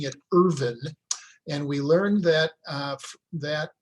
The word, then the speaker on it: Irvine: And by the way, you'll notice that Jeannie and I are pronouncing it Irvine, and we learned that that pronunciation is correct from descendants of John Irvine.